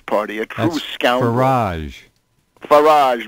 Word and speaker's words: Farage: Farage rhymes with garbage.